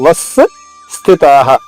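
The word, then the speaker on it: वस्थिताः: వస్థితాః వాపైన ఆఘాతం ఉంది. స్థిలోని సా ద్విత్వం అంటే 2 సార్లు చేసుకుంటూ మొదటి లైన్లోనే ఉంటుంది చూడండి. వస్థితాః వస్ స్థితాః. తా దీర్ఘంగా, విసర్గ ఉచ్చారణ హాల హ చెప్పాలి.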